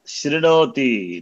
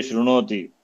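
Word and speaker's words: शृणोति: plus न plus तप शणोति नॉट शोति many people pronounce Rongli दे से श्रणोति नॉट शणोति शणोति व्हेन इट कम्स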